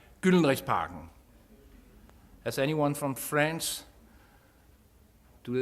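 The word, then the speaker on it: Gyldenrisparken: You're going to the Golden Rod Park, or as we pronounce it in Danish, Gyldenrigsparken.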